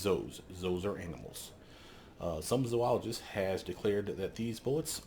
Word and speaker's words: zoologist: just are declared by the way that is pronounced zoologist for those of you that don't know and it's a pet peeve of mine do not call it a zoologist they don't study zoos they studies those those